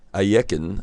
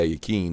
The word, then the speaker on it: Alekhine: didn't know uh alexander ayeken as what is the way you say his name some some people say are you keen but that is incorrect i believe it's a yeken but alekhine as we